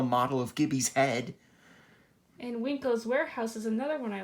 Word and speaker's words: Wanko's: And Winko's Warehouse is another one I like. It's pronounced Wanko's.